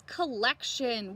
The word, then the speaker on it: collection: Your next word is collection.